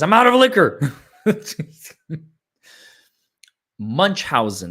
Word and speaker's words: Munchausen: Munchausen, that's how you pronounce it.